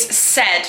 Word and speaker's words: said: The next word we've got is said. Now said sounds as if it is spelt s-e-d.